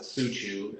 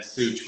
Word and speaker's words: Suciu: Well, it's Romanian, so you're supposed to pronounce it Suciu in Romania, but I've been Such my whole life. So Suchu?